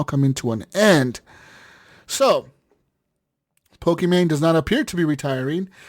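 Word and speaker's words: Pokimane: you say her name Pok man Pokemon man pokem man yep yeah you got it pokem pokem Pokemon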